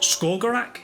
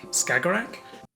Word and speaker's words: Skagerrak: That's an area which I think is pronounced Skagerrak, Skagerrak. Skagerrak Which is the area, you know, that bit you're kind of map between sort of Norway, uh Denmark and Sweden.